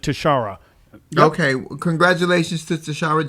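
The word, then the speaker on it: Tishaura: I believe she pronounces it Tashara.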